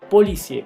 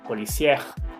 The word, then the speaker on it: policier: Entonces, por favor, tampoco me los vayan a pronunciar. Y infirmier, policier, premier, boulanger. No infirmière, policière, première y boulanger.